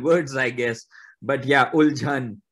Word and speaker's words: Uljhan: But yeah, Uljhan is the right pronunciation.